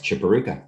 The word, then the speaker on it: Chiporukha: how i punch that in for you chuparooka is that how you say it that's correct chiparruka thank you chipper ruka that's a cool name